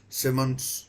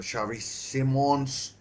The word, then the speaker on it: Xavi Simons: Good save, a decent save by Nita from Simmons or Xavi Simons, as is pronounced, and should be Boboons.